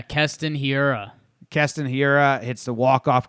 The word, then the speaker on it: Keston Hiura: Yelich home run to tie it, and then our dude, how do you say his name? Kenton Herrero? That's can't be right. Yeah, Keston Hiura.